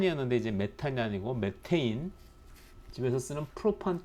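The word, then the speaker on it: methane: 했었는데 어 우리나라 화 학교에서 rk 니라고 육식 발음의 버카 깝게 부르자고 해서 이제 이전에 메탄 이었는데 이제 메탈 아니고 매 테인 집에서 쓰는 프로판 께 쓰는 프로판 이 아니고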